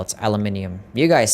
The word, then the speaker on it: aluminium: you say aluminium we say it how we spell it aluminium you guys say it how you spell it I forgot take a golden B we don't say aluminum cuz we don't spell spell it like such